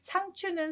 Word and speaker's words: 상추: 우리 국어사전을 찾아보면 상추라고 하면 안 되고요. 표준어는 상치예요. 근데 사람들이 상추 하니까 상추가 널리 쓰고 있는데요. 엄연히 표준은 상치더라고요. 채 발음이 치로 된 것을 그대로 활용하는 건데 뭐 단어라는 게 우리가 많이 쓰면 그게 단어가 돼 버리잖아요. 저도 상추라고 해요. 상치라고 잘 안 하게 되더라고요. 나물채 발음이 치 돼서 상치가 맞지만 상추도 맞는 걸로 하고 있다고 합니다.